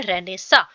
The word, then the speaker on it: Renaissance: मुझे तो ये प्रोनाउंस भी नहीं करना आता था सीरियसली, तो इसे बोला जाता है रेनेसा।